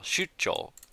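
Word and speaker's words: 出張: Shuch with like a stop here in the middle. Shuchel.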